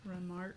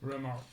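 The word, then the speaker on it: Remarque: R E M A R Q U E Remark. Remark.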